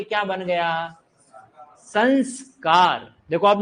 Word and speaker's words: संस्कार: भले उच्चारण में न आ रहा, देखो संस्कार उच्चारण में कौन सी ध्वनि आ रही है? न, लेकिन उपसर्ग में जब आपसे पूछे तो आपका उपसर्ग क्या निकलेगा?